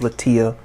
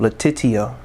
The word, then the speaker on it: Letitia: respectful though because i love latia um letitia okay i didn't say her name right the first time so i apologize for